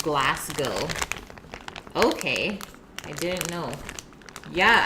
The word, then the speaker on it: Glasgow: It's pronounced Glasgow.